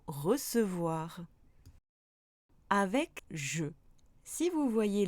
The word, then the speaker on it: recevoir: Idem avec ce, on prononce le E toujours avec ce, comme dans apercevoir ou recevoir.